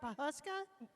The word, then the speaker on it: Pawhuska: Pawhuska?